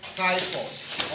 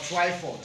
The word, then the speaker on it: Twyford: This particular wall tiles that I bought is called Tyford or Twyford. Some people call it Twyford, some people call it Tyford.